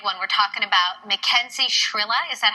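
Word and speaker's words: Shirilla: Mackenzie Shrilla is the correct way to say it.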